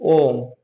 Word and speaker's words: ओम: और प्लुत स्वर में क्या आते हैं, जिसमें उच्चारण में 3 मात्रा का समय लगे, जैसे इसको 3 इकाई, जैसे ओम, ओम लिखते हैं हम लोग, ओ और ये 3 जैसा, फिर म, तो ये हो जाएगा प्लुत स्वर, ठीक है।